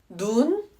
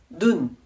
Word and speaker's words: 눈: 눈 눈 말 밤 밤 길게 발음하느냐 짧게 발음하느냐에 따라서 뜻이 달라집니다. 길게 발음한 눈은 하늘에서 내리는 눈을 의미하고요. 단음인 눈은 우리 얼굴에 있는 눈을 의미합니다. 장음의 말은이야이야 맞습니다.